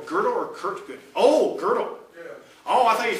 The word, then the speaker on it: Gödel: Okay, it's Godel. Okay, now I'm talking about Godel. Ah, it's called the incompleteness theorem. Yes. Right. Ah, okay. Good. Okay, I would pronounce it Godel.